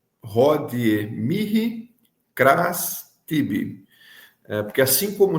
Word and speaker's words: mihi: Aquele H no meio de Mihi se pronuncia para nós é como se fosse aquele R, não é? Mihi, Mihi, esse som mais pronunciado na garganta, mais aspirado, né?